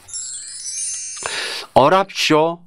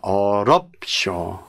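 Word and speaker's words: 어렵쇼: 어랍쇼가 아니라 어렵. 예. 랍이 아니라 어렵는 거로 바뀌게 되죠.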